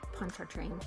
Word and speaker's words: Pontchartrain: Jérôme de Pontchartrain is how they would have said it, but you can say Pontchartrain. That's fine. Pontchartrain. Pontchartrain. Because that's how they say it down in Louisiana.